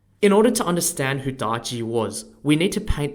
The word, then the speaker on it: Daji: the most evil woman in Chinese history spelled d-a-j-i is an example of where a real life person has been exaggerated in history through stories myths and legends in order to understand who darji was we need to paint the world she